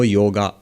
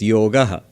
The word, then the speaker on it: yoga: yoga not a yoga in Hindi you would say yog in Bengali yog but never yoga so what is this